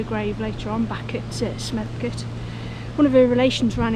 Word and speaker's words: Smethcott: So I think the early spelling of Smethcott, Betchcote, Picklescott, they have C-O-T-E on the end, and now they have S-C-O-T-T, but I've always pronounced them like they have C-U-T at the end, cut. So Smethcott, Picklescott, Betchcote. It's always how I've pronounced them, and I've heard, you know, relations pronouncing it, so it's obviously a Shropshire pronunciation.